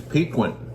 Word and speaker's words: piquant: That's piquant.